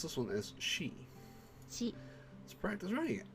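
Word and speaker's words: し: Pronounce this one as she.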